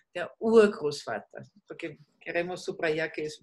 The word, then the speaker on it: Urgroßvater: Der Urgroßvater. En las palabras largas, el acento siempre es en la primera sílaba. Der Urgroßvater.